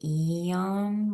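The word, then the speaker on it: यं: It's um yam and I always taught to pronounce it yam when we do our chant. So that's how I'll say it.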